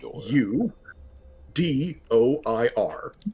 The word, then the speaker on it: Udoir: And then the empress, the current empress, her name is Udor, which is just u d o i r udor. Yeah, like dwar like door rhymes with noir.